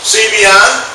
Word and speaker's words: Cbeyond: you who don't know cbi is spelled with a c and the word beyond so that's kind of a joke uh running around that's kind of a joke that i use see beyond and it's kind of